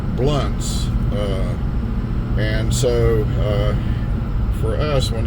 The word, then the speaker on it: Blounts: usually calls this Old Blounts Creek Road because it's spelled B-L-O-U-N-T-S, which looks like it's Blounts, but we pronounce it Blunts, and so for us when they say Blounts, it's just funny.